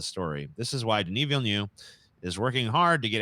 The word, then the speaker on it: Villeneuve: Villeneuve. Whose name, when pronounced correctly, sounds like a lot of sneezes that I've let out.